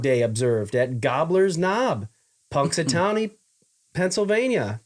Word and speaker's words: Punxsutawney: In 1887, first Groundhog Day observed at Gobbler's Knob, Punxsutawney, Pennsylvania. Puxatawny. Punxsutawney. Punxsutawney. No, Punx. Punxsutawney. Punx. Punxsutawney. Punxsutawney. Punxsutawney, Phil. Punxsutawney Phil. Maybe the N is silent. Nope.